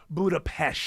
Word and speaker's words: Budapest: Even though it's spelled P-E-S-T, it is pronounced Budapest.